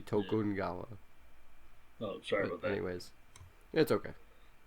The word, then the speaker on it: Tokugawa: for it to sing tokugawa sorry for if i mispronounce those no it's it's the the only pronunciation that he didn't do really well was the tokugawa it would be tokungawa oh sure anyways that's